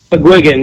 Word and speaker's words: McGuigan: McGuigan, yeah.